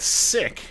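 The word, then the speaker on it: Ssik: Dune parade we got sick I think that's how this pronounced s-s-i-k uh and John Casey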